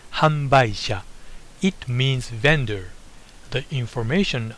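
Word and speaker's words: 販売者: producer is in Japan the second one is pronounced hamba it means vendor the information on the actual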